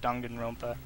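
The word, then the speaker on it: Danganronpa: It's dongan, like dongan rompa.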